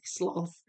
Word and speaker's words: sloth: Um, but I I with the animal, I say sloth. So, tell me tell me how you um tell me how you say it. I would I would love to know. Julie, you're Australia, right? So, you say sloth. The Americans apparently say sloth.